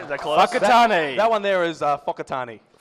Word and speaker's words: Whakatane: Wakatane? Hey! All right, is that close? Whakatane.